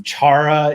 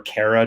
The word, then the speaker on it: Chara: Um charara is the the genus or cara depending on how you want to pronounce it.